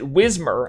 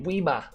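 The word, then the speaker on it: Whismur: as a British person, you would not pronounce it Whismer, as the Americans would say. You would say Weema.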